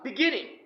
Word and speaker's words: beginning: what is it ah beginning don't say beginning beginning Jesus should be stressed beginning means Aras you